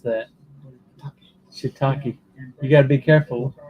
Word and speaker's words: shiitake: he loves the holy shitake pizza i almost mispronounced that shiitake you got to be careful check that out you got to be careful saying that because it may not come out as shitakey it sounded like uh with thailand regionally in